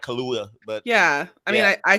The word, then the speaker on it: Kaluuya: How do you pronounce his name again? That's Kaluuya, right? Daniel Kaluuya. Yeah, it's almost like Kaluuya, but yeah.